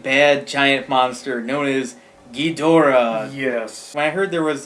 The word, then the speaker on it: Ghidorah: it wrong is King Ghidorah I said King Ghidorah which is weird because in the American dub versions of some of the older movies it is King Ghidorah they say he's weird